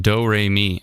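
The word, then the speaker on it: Domremy: Dom Remy is pronounced do-re-mi.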